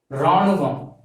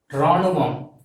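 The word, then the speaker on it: ராணுவம்: So this army and soldier represents Ranuvam, R-A-A-N-U-V-A-M, Ranuvam. So this Ranuvam represents army and soldier in Tamil. So you have to pronounce this as Ranuvam, R-A-A-N-U-V-A-M, Ranuvam.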